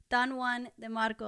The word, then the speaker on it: Don Juan de Marco: Don Juan de Marco.